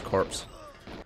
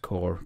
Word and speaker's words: Corps: on the soundtrack for blass corpse I think that supposed to be pronounced core but oh well Goldeneye boasts